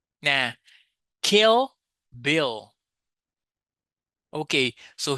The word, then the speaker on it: Kill Bill: So, here we have the final L sound. In Brazilian Portuguese, we don't usually produce this sound. Usually, we say uh a U sound. For example, when you say pastel, Portugal, Emanuel, we say u. Yeah. Instead of the L in the end of the words, but in English, you say L kill, bill.